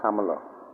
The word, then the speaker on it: Kamala: hearts behind Cala Harris or Camala as I think it's supposed to be pronounced and finally in this